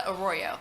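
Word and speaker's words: Arroyo: I'm sorry would you identify yourself again oroo it's the pronunciation my last name a r r o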